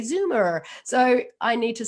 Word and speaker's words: Zoomer: o m e r the reason i have to spell it is because i say zuma um and you say zoomer so i need to